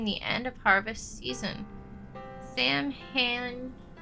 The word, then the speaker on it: Samhain: Sam Han, pronounced Samhain in English, is derivative from an old Irish salmon, or Samhain, both referring to the eve of November 1st, when the